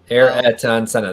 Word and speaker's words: Ayrton Senna: Ayrton Senna. That's how you pronounce the goat's name.